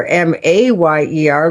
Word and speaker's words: Mayer: And so people do recall this now that it's Oscar Mayer, Mayer, like John Mayer.